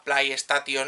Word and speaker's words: PlayStation: Por eso no se la, hay quien la llamaba la Play 1, la Play Station esa, hasta entonces, y esos anuncios ya dijeron, no, se pronuncia PlayStation.